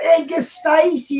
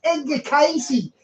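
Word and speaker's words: Edgar Cayce: another guy who channeled it's not Edgar Stacy it's Ed de casy he's this big expert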